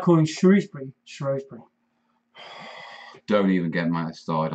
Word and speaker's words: Shrewsbury: I used to live in Shropshire, yeah, and there's this weird thing in Shropshire where they think shrew is pronounced shrow, yeah. Now, screw isn't pronounced scrow, yeah. So Shrewsbury cannot be pronounced Shrewsbury. You don't say I'm going to scrow your scrutum. It annoys me, it really does.